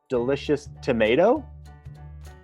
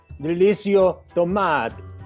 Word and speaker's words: Delicio Tomate: Chef Delicious Tomato? It is pronounced Chef Delicio Tomate.